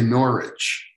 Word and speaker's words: Norwich: um did they say norwich that's at norwich yeah the w is silent learned it's taking me